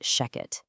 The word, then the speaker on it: Shechet: You know, even though it's spelled s h e c h e t, it is always pronounced Sheket.